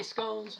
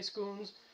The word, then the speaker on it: scones: order scones then uh I say scones some people will say scons uh pronunciation is a not really that big of an issue if you say go